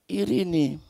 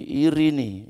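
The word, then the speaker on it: εἰρήνη: Ini lebih dari ucapan salam dari kata irini. tulisannya itu irene membacanya bahasa Yunani irini ya irini gitu ya.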